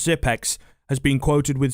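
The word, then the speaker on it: Xyp9x: top 20 by the astralis organization zip nick's pronounced zip x has been quoted with saying i'm fairly confident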